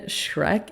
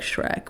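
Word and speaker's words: Schreck: just for some clarification Shrek is spelled s c h like sh r e c k but like I mean I'm pretty sure you just say Shrek like like Shrek which is pretty sick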